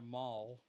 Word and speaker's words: Mahle: Oh, Tyler Mahle. Oh, I didn't know how to pronounce his name. Well, that's William Contreras, number 24 for the Brewers. Very interesting. Tyler Mall.